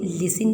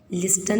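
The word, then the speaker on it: listen: मेरी बात सुनो आपको इसे लिसन पना है लिस्टन नहीं पढ़ना है टी यहां पर साइलेंट होता है अब हमारा आई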